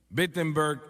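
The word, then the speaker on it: Wittenberg: Alemania Oh no perdón empiece con una W pero se pronuncia como una B BBG Alemania y clava sus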